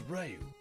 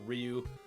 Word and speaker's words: Ryu: I will flip-flop all over that pronunciation because for like the longest time of my life, I said Ryu. And then when the Xbox versions of the game started coming out and they called him Ryu, I was like, hold on a second. Wait, what? Then I realized how that pronunciation was the actual correct one and I've been